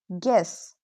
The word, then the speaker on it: guess: Here the U is not clearly pronounced. The U helps spelling, not pronunciation.